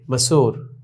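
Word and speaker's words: مسور: मसूर, meme scene वाव पेश सो रे मसूर। গোশত শব্দটি আবার এসেছে। তাহলে আমরা বুঝতে পারলাম যে ওয়াও কখনো দীর্ঘকারের মতো উচ্চারণ হয় এবং ওয়াও কখনো ওকারের মতো উচ্চারণ হয়।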